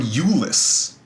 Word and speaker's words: Iulus: Now, the reason this is so important is that the Julii, the place that this name comes from is from Iulus, I-U-L-U-S. that's how you pronounce it.